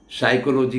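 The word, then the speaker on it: psychology: आप जानते हैं साइकोलॉजी का स्पेलिंग P से शुरू होता है, पर साइकोलॉजी होना चाहिए लेकिन बोला जाता है साइकोलॉजी।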